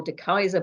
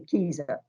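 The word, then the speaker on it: De Keyser: to pronounce the kisa there was a debate about whether it was de casa or de kaiser but i am convinced that it's the keys because that's how the english would pronounce a dutch name wouldn't they so there we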